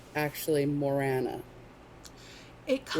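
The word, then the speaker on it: Morrígan: looks like Morrigan, and even, like, people say it's Morrigan, but then I've seen, like, where Irish people are like, no, the G is silent.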